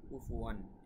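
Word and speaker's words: كُفُوًا: ওয়া লাম ইয়াকুল লাহু, হুতে এক আলিফ টান, কুফুয়ান এখানে কুফুয়ান এখানে ইজহার হবে, কেননা দুই জবর বা তানউইনের পরে ইজহারের হরফ হামজা বা আলিফ এসেছে।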